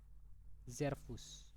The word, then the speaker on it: Servus: Zervus. Zervus. Oke. Jadi ini ada S, huruf S. Biasanya kalau dalam bahasa Jerman itu huruf S itu pronunsiasinya itu seperti huruf Z bacanya. Jadi Zervus.